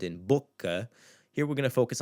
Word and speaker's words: boca: looking at in another video, the sound in boca. Here we're going to focus on the first syllable.